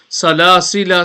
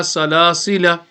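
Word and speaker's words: سلاسلا: rule for this is, during waqf pausing, it is permissible to either pronounce or not the extra alif in the word salasila, okay, of the Holy Quran. But in wasal, joining the extra will not be pronounced.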